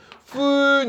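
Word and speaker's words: Föhn: 푼 이렇게 불러. 푼 이게 umlaut라 그래서 알겠죠? 이게 무이름 비슷해. 무이름 발음 나거든요. 푼 이런 거예요. 근데 이제 그냥 영어식으로 풀 때 그냥 펜 이런 식으로 부르죠.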